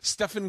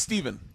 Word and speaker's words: Stephen: went your name's Dwayne Stefan curry yeah it's Stephen yeah it's Stephen Curry but it says Stefan it's like there's a